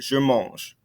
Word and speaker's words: je mange: tense, I told you, we don't pronounce that ending E sound because there's no accent over it. You don't pronounce it. Je mange.